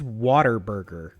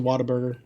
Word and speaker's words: Whataburger: I think that's pronounced. Like, I think it's Waterburger. That's what. No, it's a Whataburger. Don't be like that. That's for Nick. I called it Waterburger for like the first like 8 years of my life.